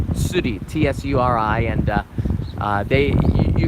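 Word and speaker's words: tsuri: city they said fishing in Japanese it's called suti TSU RI and they you can rent a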